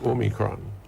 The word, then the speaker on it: omicron: variant which you know i know people are catching their tails to pronounce it properly it's omicron omega yeah um it's one of the letters of the greek alphabet so that variant the